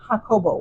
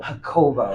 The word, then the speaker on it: Jacobo: His real name is Jacobo. Jacobo. And Jacobo. she said it with Yeah. such a fluency. Uh-huh. I'm going to call him Jacobo. Yeah. So it's spelled Jacob with an O at the end. Yes. Mhm. Yes. And so just like any J name, it has the H sound. Yes. You know, Jose, Jesus. Mhm.